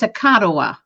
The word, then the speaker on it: Akaduh: And the name of it's Akadawa.